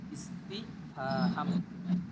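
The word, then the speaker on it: استفهام: ইস্তিফাহাম ভালো করে খেয়াল করবেন উচ্চারণটা, হামজা নিচে জের দিয়ে আর সিনের উপরে সাকিন করে, ইস্তি তার নিচে জের, ফার উপরে জবর, হার উপরে আলিফ মানে জবর, আর মিম লাস্টে, ইস্তিফাহাম।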